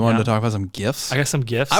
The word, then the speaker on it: GIF: to talk about some gifts I got some gifts I was thinking about gifts and not GIF gifts best Christmas gifts I believe that's pronounced Jif it's a gift for Jeff it's definitely GIF it's uh wait what